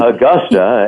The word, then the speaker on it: Agosta: Augusta, as in, it's pronounced like the golf course, but it's spelled differently.